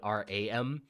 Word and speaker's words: Ram: They spell it ROM, but I spell it RAM because I sort of just pronounce the A like an ah, like a German ah, so it's like Ram, I guess, instead of Ram.